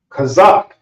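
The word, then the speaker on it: חזה: cover his chest and chest is pronounced kazak so that's the and this is the as if you have something in your throat not C that's a different character and then Zak which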